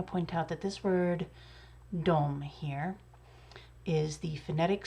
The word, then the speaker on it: de: but it is pronounced dom even when it's spelled d e um it's one of those very rare words in swedish that is not pronounced the way that it's spelled and the dom spelling